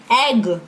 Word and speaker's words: egg: एग, हम उसको ईग नहीं बोलते हैं, वी से एग.